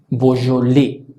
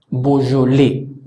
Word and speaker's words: Beaujolais: Si pronunciamos, tomando en cuenta estas características, EAU suena O, la J suena J, AI suena E, la S final no suena, la sílaba tónica es la que pronunciamos al final. Por lo tanto, esta palabra debería sonar y suena Beaujolais. Beaujolais.